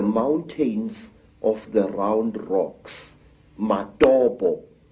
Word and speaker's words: Matobo: And one of these parts of Africa, sir, is a remarkable place called the mountains of the round rocks, Matobo, wrongly pronounced Matopo in